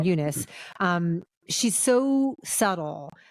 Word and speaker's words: Eunice: And then you say Fernanda Torres is Eunice is how they pronounce her name, Eunice.